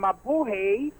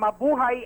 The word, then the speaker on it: mabuhay: state ng maling pagbati itinama ng mga Pinoy ang sinabi nito na mabuhi at itinuwid na mabuhay ang tamang pagbibigkas dito sa kanyang pagsasalita matapos ang aaking bumati si Kim ng mabuhay subalit agad na sumigaw ang mga Pinoy audience ng mabuhay at hindi mabuhay ipinag pinanganak na Koreano si